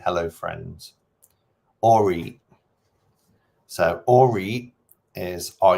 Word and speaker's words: Allreet: Or eat.